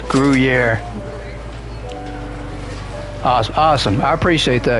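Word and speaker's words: Gruyère: The cheese is pronounced gruier.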